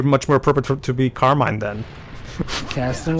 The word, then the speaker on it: Carmine: Yeah, and also, and by the way, the correct, like I mentioned sporadically previously, the correct pronunciation should be Carmine. It's just that, I guess that's a thing that, America got from the Italian immigrants.